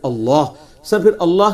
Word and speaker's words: Allah: तो उसको अगर अल्लाह का तारुफ करवाना होगा उसकी।